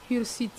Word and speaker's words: hirsute: bolo a kala bonjour on dit barbe hirsute Ir, voilà barbe hirsute hirsute ça s'écrit avec H H voilà ici le H n'est pas mien ça parle hirsute hirsute H H U ne ko jɔn de